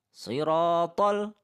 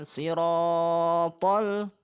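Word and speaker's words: صراط: Jadi, 'ron' itu panjangnya dua harakat. 'Sirathol', bukan ' siratool'. Itu tidak mungkin terlalu lama. Jadi , hanya dua harakat.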